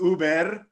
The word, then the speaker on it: Uber: isn't it pronounced Uber in Spain? Yes, you roll the R.